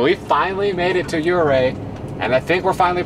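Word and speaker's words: Ouray: are muddy so we finally made it to uray and I think we're finally pronouncing it correctly at this point too so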